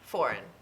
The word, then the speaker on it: foreign: here okay okay so let's break it up into syllables ready four and four four and okay four n foreign so what do you